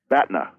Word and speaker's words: BATNA: planet hoth I realized what was it again Batna spell it the a TNA okay it's an acronym